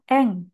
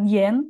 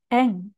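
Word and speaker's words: 円: Untuk onyominya dibaca eng, jadi bukan yen tapi eng.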